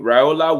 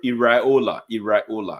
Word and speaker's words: Iraola: Raiola would continue. Iraola. Yeah. So I don't go and pronounce it wrong.